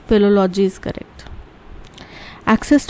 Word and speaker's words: philology: फाइलोलॉजी word नहीं होता, फिलोलॉजी होता है।